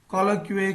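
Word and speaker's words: colloquy: ये वाला वर्ड आपको न्यूज़पेपर में बहुत मिलेगा कि दो देशों के नेता आपस में कॉलोक्विए कर रहे हैं, ठीक है ना, चुया नहीं कुया कॉन्वर्जेशन है, बोलने सॉरी प्रोनाउंसिएशन है, कैसा भी हो सकता है, ठीक है ना।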